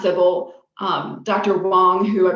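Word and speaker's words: tsibble: fees and fable um and yes it is pronounced civil um dr wong who i believe is the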